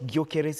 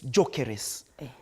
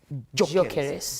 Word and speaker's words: Gyökeres: It's not Gyökeres, it's Jokeres. Kama vile, you know, kama inaitwa Chalo. It's Jokeres. Jokeres.